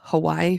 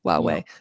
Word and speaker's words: Huawei: about, how do you say it was the Hawaii phones u Huawei? I'm sorry. Yeah, Huawei.